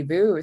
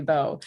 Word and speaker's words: Vo: my name is i i hear people say sandy boo sometimes and i say no it's beau i hear people call